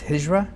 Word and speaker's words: Hijra: What is, according to what I've been reading, I think the pronunciation is Hijra? Yes.